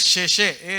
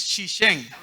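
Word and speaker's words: 谢谢: No es sheshe, es shishen.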